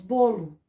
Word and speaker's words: bolo: Em vez de ler bolo, nós lemos bolo. Nós trocamos a pronúncia, escrevemos com O, mas na hora de ler, de pronunciar, nós falamos, a vogal O fica com o som de U.